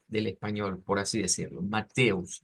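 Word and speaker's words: Matthäus: se dice en inglés y en alemán se puede pronunciar de dos maneras las que les he estado enseñando más que todo es la forma que es como mateus es decir que eso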